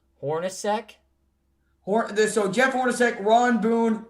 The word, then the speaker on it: Hornacek: Jeff Hornacek. Hornacek? Yep. Is that his last name? Did you just say Hornack?